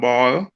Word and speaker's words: BAAL: All right, it's called Ball, BAAL. And you know how we love ball, right? Yeah. Here in Jamaica, we love play ball. So it's spelled BAAL, and it's basketball at all levels.